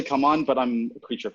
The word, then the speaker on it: CMON: How is that pronounced, right? So I think it's officially Come On, but I'm a creature of habit.